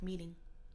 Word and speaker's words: meeting: Alors, le T au milieu, ça devient à peu près comme un D. Alors, ça se dit meeting.